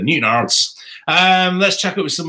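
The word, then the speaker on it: Newtownards: It's a bit like when people first land in Northern Ireland, when I did, and they go to Newtown Isles instead of Newton Isles.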